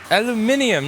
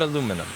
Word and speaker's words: aluminium: Aluminium, not aluminum. Okay, fine. How about this? I will pronounce aluminium with aluminium if you stop putting unnecessary vowels in words.